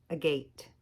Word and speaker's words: agate: know what that says a gate a got an a on a gate stone agate it's agate it's agate that's the proper way to pronounce that it's an agate because that's